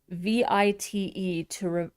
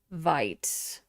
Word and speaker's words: Vite: Um, Oway says, I've been pronouncing vi to to rhyme with feet. I've heard other people pronounce it that way, too. Vit. Okay. See, I was putting a hard I vite.